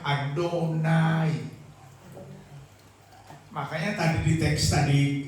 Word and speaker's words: Adonai: Kalau Tuhan saja yang huruf awal besar dibaca Adonai.